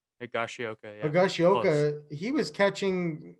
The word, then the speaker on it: Higashioka: Higashioka, yeah.